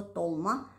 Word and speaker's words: толма: Там, где мы говорим «Т», они говорят «Д». Это специфика армянского языка. После геноцида многие армяне переселились, которые выжили, переселились в Восточную Армению. И с того момента они принесли с собой свое произношение слова «толма», «долма». Но так как их не очень много в Армении, то в основном преобладает восточно-армянское произношение «толма». Я выросла в Ереване, поэтому